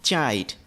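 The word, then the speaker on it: chide: বা তিরস্কার করা এবং এটার একচুয়াল প্রোনাউন্সিয়েশন হচ্ছে চাইড আবারো একবার বলছি চাই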